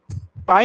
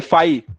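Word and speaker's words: phi: अच्छा पाई, अरे पाई नहीं, फाई, PHY, पाई।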